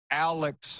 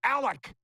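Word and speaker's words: Alek: wrote in and they're mad that I said Alex Manoa I said both Alec and Alex but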